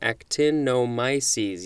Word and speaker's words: actinomyces: start this episode with actinomyces is that the correct pronunciation actinomyces yup that's it this is a noun from 1882.